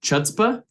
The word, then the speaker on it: chutzpah: lastly um nerve expresses your audacity is it chutzpah hotspot C is silent yeah it's fun okay uh and your